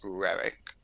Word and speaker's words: Roerich: Do you pronounce it Rorich? So in my Russian pronunciation would be very bad. It was pronounced in the United States Rerik, and it was quite similar to that in Russian.